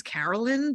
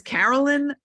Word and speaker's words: Caroline: Internet and her name her name is spelled differently than it's pronounced um her name is yeah it's Carol her name is Carolyn but it's spelled Caroline